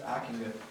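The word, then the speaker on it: Ockenga: Okenga. Okenga? I think. It's Akinga.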